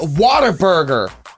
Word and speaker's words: Whataburger: is they call it Whataburger Whataburger when you are saying a sentence what do you say the word w-h-a-t how do you say it what right so it's Whataburger what a burger I mean that's correct